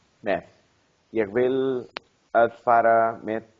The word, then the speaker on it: með: Okay, but it's that? Með. No, með. Með. Ah, Með. Með. Með. með. Já.